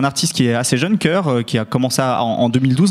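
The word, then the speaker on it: Kur: En fait, il produit un autre rappeur, ce producteur qui s'appelle Kerr, ça s'écrit K-U-R.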